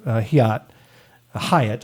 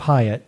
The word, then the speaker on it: Hyatt: Well, the first fireworks of the night uh is the guy that got passed over, Representative Hiat. I keep mispronouncing his name. Representative Hyatt.